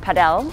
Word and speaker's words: padel: if you call it paddle which is the proper pronunciation or the Spanish pronunciation some people get it